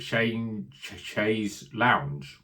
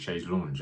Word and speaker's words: Chaise Longue: As I've said it, is it Chaise Longue or is it Chaise Lounge? No, I think it's Chaise Longue. I think there's that pronunciation there.